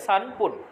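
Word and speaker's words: 三分: এখানে দেওয়া আছে সানপুন তিন এর জন্য প উচ্চারণ হবে উপরে আমি হাইলাইট করে রাখা ছিল তাহলে সানপুন সানপন তিন মিনিট এরপরে চার মিনিটের জন্য আছে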